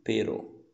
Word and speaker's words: pero: A primeira eu leio pero, pero. A segunda, perro, sim?